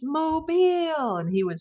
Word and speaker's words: Mobile: were like kind of bested and Donny couldn't pronounce the name of the town and people kept yelling at him. It's Mobile.